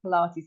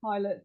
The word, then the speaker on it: Pilates: heard of it actually I didn't even know how to pronounce the word I thought it was pilot thought anyway so this